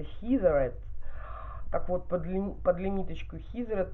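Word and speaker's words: Heatherette: Правильно произносится Хизерет.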